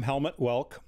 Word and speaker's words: Helmut Welke: I am Helmut Welke. That's how I pronounce it.